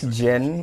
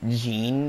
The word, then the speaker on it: Jin: Okay, that's Jin, by the way. They mispronounced his name to be Jean for some reason.